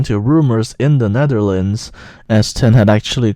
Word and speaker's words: S10: to Eurovision thing a while ago, and she pronounced it S10, so why should I pronounce it S10 as everyone else was saying? My name is S10 and I'm representing the Netherlands.